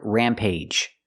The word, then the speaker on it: rampage: And the last word rampage. Sometimes we have two syllable words with ag at the end and it makes a long a sound like with one syllable words. Age, page, and cage.